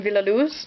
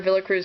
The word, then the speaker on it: Villaluz: It's according to this Nancy Solon Villoo. Uh I was calling her Villa Cruz for the longest time. It's actually Villoo.